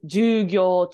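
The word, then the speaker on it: 授業: Sorry, I did that wrong. It's ju and then gyo, short ju. This word here. And if you add naka to it, it's jugyo chu, which is during class rather than just class.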